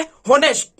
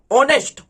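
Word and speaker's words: honest: होनेस्ट। ऑनेस्ट, होनेस्ट नहीं, इसको पढ़ना है क्या? ऑनेस्ट। इसको क्या पढ़ना है?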